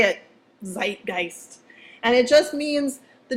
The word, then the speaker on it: Zeitgeist: as I say it you gotta say it with a doofy German accent because it comes from German it's Zeitgeist whoo Zeitgeist say it Zeitgeist and it just means